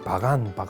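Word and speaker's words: Bagan: 요즘은 이제 발음이 바간 이런데 이 파간은 그 당시 문제가 뭔가 하면 바로 위에 지금 윈난성이 보이죠?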